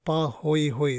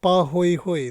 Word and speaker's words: pahoehoe: types okay now again these are like Hawaiian language so the first type is called something called pahoehoe that's how we pronounce this so it's called pahoehoe that means it resembles